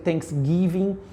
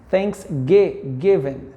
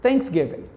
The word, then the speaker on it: Thanksgiving: I hear a lot of people saying Thanksgiving, but the pronunciation is thanks with the sound, Thanksgiving. Thanksgiving.